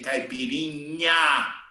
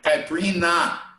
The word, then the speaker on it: caipirinha: caipirinha okay observed that the gringos they can't say caipirinha they can't pronounce so they say caprina caprina okay and here in europe